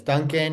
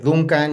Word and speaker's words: Duncan: My name is Duncan or in Spanish everyone pronounces Duncan. So, you can call me Duncan, you can call me Duncan and I write and I illustrate books.